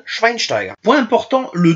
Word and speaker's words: Schweinsteiger: constitue un piège car il ne se prononce pas Ste mais chte comme pour le gardien du barçac Andre tersteen ou Marc andreé tersteen ou aussi chez Bastian Schweinsteiger point important le W